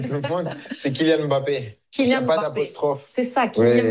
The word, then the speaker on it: Mbappé: a énormément de Français qui vous appellent Kylian Mbappé. Est-ce que c'est comme ça qu'ils vous prononcent? Non, Ah, non. mais voilà. J'aurais beaucoup de travail si je devais corriger tout le monde. C'est Kylian Mbappé.